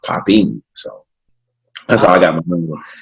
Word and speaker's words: Popin: do with the style style is pronounced poppin so that's all I